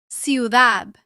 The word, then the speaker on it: ciudad: For example, centro, ciudad. In much of Spain, this sound is pronounced like the TH sound in the English word think.